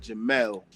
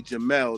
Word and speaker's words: Jamil: But actually um my mother pronounced it she spelled it J A M I L but she pronounced it Jamal. So, it's actually Jamal.